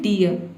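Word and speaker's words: dear: तो देखिए एग्जाम्पल देखते हैं, डियर, डी का ड हो जाएगा और डबल ई को हम क्या पढ़ेंगे, ई, और आर साइलेंट है, क्यों, क्योंकि आर से पहले ई वावल आया है इसलिए। ये हो गया आपका डियर। डियर मतलब होता है हिरन।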